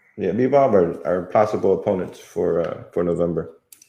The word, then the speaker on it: Bivol: Bivol. Yeah, Bivol are possible opponents for November.